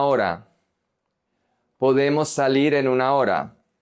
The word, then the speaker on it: hora: The H is silent. Podemos salir en una hora.